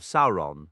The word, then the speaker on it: Sauron: rhyme with ol, and the initial syllable of Sauron, similar to sour, not sore, ei, as in Teglin, carries the sound of the ei in grey.